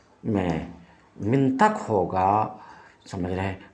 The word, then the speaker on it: منطق: بھی واضح ہے کہ کچھ لوگ منطق کی تا کو مفتوح بولتے ہیں، یعنی منطق بولتے ہیں، یہ غلط ہے، اس واسطے کہ لفظ